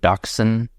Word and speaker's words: dachshund: Because it's German, and it's like I don't get dachshund. So we're not saying it right, is what you're saying. It's not dachshund. Dachshund or something. Dachshund. Like Dutch hounds? That would make sense. Dutch hound. Dachshund. Welcome to America.